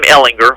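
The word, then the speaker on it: Ehlinger: it, but it was Sam Ellinger, Hard G.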